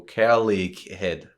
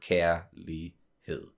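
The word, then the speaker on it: kærlighed: the word like uh the g is silent so that's the that's why you don't go care leak head you know exactly and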